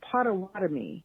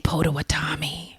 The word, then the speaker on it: Potawatomi: Anyway, I was going to say, some of the pronunciation is Potawatomi. Potawatomi. We were saying Potawatomi.